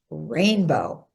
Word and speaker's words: Rayne Beau: And yes, his name is pronounced Rayne Beau.